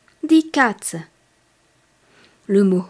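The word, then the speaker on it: Katze: un garçon on dit Z car le mot Cats en allemand le chat est féminin cat le chat K a T Z e di Cats le mot Hund le chien est masculin der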